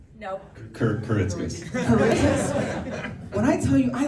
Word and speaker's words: Kuritzkes: me another chance give me another chance Justin kurus no kitus kitus when I tell you I landed that so